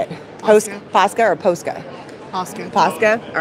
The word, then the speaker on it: Posca: Posca or Posca?